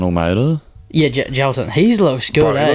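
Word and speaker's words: Jailton: Is it Jalton Almeida? Yeah, Jalton.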